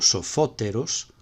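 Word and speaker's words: σοφώτερος: Ahora olvídate de pensar que sofos y sofóteros, sofos es oxítono y sofóteros es proparoxítono, no tiene que ver. Lo que estamos diciendo es que el acento se conserva en la misma sílaba, en sofos y en sofóteros.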